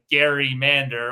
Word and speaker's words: gerrymander: And there's a political cartoon that called it the Gerrymander or gerrymander, and that's how we have the name gerrymandering.